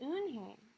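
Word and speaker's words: Unhei: no no hey corrected it's spelled u-n-h-e-i it's pronounced oon hey oh it's you hey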